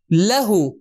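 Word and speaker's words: لَهُ: لی پلس ہو, لیکن لیہو کا تلفظ مشکل ہے تو عرب نے کیا کیا, اس کو تبدیل کر دیا لہو میں.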